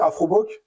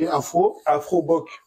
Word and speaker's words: Afrobock: c'est Afroboc. Ok, Afroboc. Afroboc. Et on a même un site internet, en fait. Ça s'écrit AFROBOCK.